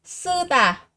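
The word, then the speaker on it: 쓰다: Mình có động từ sư tả, sư tả. Sư tả, sư tả là âm căng nên các bạn sẽ phát âm là gì ạ?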